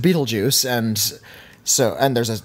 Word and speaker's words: Betelgeuse: beetlejuice geu ceme ete oh yeah which is pronounced Betelgeuse and so and there's a there's a star